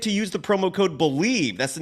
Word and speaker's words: Bleav: Head to BetOnline today, and don't forget to use the promo code BELIEVE.